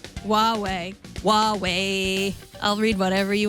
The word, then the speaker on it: Huawei: Did I pronounce Huawei right? Huawei.